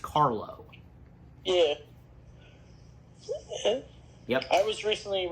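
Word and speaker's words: Karlo: The first name Basil you got right, of course, but the last name is pronounced Carlo.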